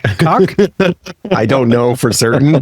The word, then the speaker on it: COC: There's a great, gigantic LGBTQ plus organization called COC Netherlands, which David has told me is pronounced cock.